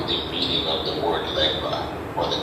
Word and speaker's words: Legba: But then in the Ewe concept is always called legba, which in the Spanish-speaking people say legua, because the GB, as in Ewe and Yoruba, which is ba, cannot be pronounced by everybody, so they call it gua.